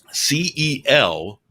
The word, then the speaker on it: Celtic: one which is uh grossly mis-mispronounced is c-e-l-t c-e-l-t-i-c celtic that's celtic yeah it is celtic but everybody is celtic